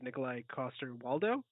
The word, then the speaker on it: Nikolai Coster-Waldau: For some reason, I would love to see like an older Link as Nikolai Coster-Waldau.